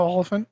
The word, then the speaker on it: Olyphant: I always mispronounce his last name, but. Timothy Olyphant? Yes. Oh, Olyphant?